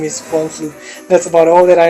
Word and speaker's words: Von Flue: Ovin Saintru, and the Von Flue choke. I really love that choke now. You can type it. It's spelled VONFLUE. Von Flue. VON, and then just imagine spelling without the T.